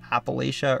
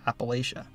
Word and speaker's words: Appalachia: state is part of Appalachia or Appalachia. The pronunciation really depends on where you live, but most Ohioans say Appalachia.